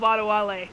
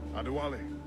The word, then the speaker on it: Adewale: Adewale. Aha! I knew it! There's only an accent on the last E.